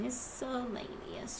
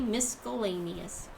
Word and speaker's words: miscellaneous: And miscellaneous, or as my sister-in-law used to say, miscellaneous. Does anybody else say it like that? Pronounce the C? I was taught it was silent.